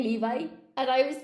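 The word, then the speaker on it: Levi's: And I said, oh, God, no, we don't say Levy. You cannot say Levy genes. And he was totally traumatized. I was like, no, nobody says Levy, it's Levi, Levi genes.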